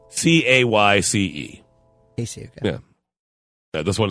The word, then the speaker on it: Cayce: Casey. Okay. Yeah. Yeah, this one is actually easier to pronounce.